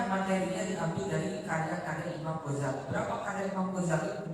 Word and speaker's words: Ghazali: Tapi yang banyak riwayat mengatakan biduni tasdid, tanpa ada tasdid di dalam Ghazali, jadi bacanya Ghazali.